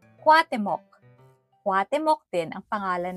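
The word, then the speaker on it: Cuauhtémoc: temo kuya't ate kutok Actually ang tamang bigkas daw ay kwat mok kwat mok din ang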